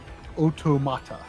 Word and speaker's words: automata: to try for saying automata right I don't know people are probably split on how to say that uh weirdly in Japanese it's oh otomata weirdly uh you know